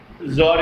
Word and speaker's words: Tsar: Tsar. Tsar. ZAR or TSAR, no problem. Pronunciation is Tsar.